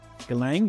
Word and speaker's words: Galang: Is it pronounced Galang? Yep. Galang, yeah, awesome.